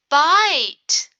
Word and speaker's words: bite: The I makes a short sound. I, bit. What's going to happen when I add a magic E? Bit will turn into bite. Bite. The word is bite. It has a long I sound.